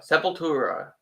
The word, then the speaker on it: Sepultura: Sepultura.